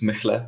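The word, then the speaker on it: Mehle: Well, Mele, or how you pronounce it. It's Mechle, but you know. Mechle. M-E-H-L-E.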